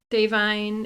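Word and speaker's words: Da'Vine: Davine is how you pronounce her name, she's been saying.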